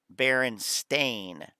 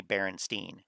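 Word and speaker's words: Berenstain: is pronounced Berenstein uh Baron stain stain like uh you know a stain on uh your um credit report from an over investment Baron but people say Berenstein before your time I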